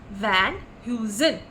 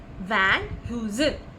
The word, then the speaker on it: Van Heusen: with it so what is this this is pronounced as Van Heusen van who's in what is the spelling v-a-n-h-e-u-s-e-n and it is pronounced as Van Heusen v-a-n Dash Hyo Dash z u h n van uzin and what is Van Heusen Van Heusen is